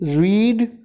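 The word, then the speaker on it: read: आगे देखिए, रीड, रेड, बोला रेड जाता लेकिन लिखा रीड ही जाता है।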